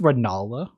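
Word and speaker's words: Rennala: who yeah Rea who is the queen it's pronounced rala rala and Molina yeah she just gives you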